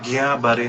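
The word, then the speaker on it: Guillain-Barré: का full form है घिया बारे सिंड्रोम ये प्रोनाउंसिएशन उसके स्पेलिंग से कुछ अलग है और सही में जैसे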